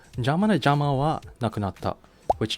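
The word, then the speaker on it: 邪魔: The word for interfering is jama in Japanese, which sounds similar to the word jammer, which is pronounced in Japanese as jama.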